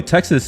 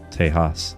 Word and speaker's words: Texas: By the way, Texas, at least it used to be pronounced Tejas. The X is H, like ha, Tejas, like Oaxacan. It's Spanish.